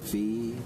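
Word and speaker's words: Phoe: did mention the question daily and I believe Fe is how you pronounce it p h o e one the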